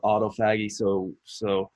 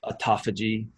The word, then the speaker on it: autophagy: It also enhances the process called autophagy, or autophagy is another way to pronounce that.